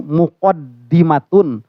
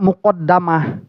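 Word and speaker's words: مقدمة: Disebutkan di sini bikasri dal, yaitu dengan dal yang dikasrahkan. Jadi bacanya itu muqaddimatun. Karena ada yang membaca muqaddamah ya.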